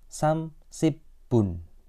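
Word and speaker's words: 삼십분: kan menit kan Nah untuk pengucapan menit itu pakainya angka Sino Korea angka Sino Korea itu seperti Il I Samsa o sedangkan yang untuk pengucapan jam itu pakai angka asli Korea nah 30 bahasa Koreanya samsibun nah Bun nah ini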